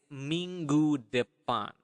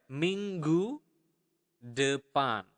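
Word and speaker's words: minggu depan: um next week is mingu Dean okay one more time Ming Ming okay the Nestle sound there mingu thean okay follow me and repeat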